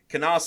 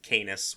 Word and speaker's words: Canas: His name rhymes with heinous, and I will die on this hill. So I guess it would be pronounced Canis, which, I mean, it kind of works.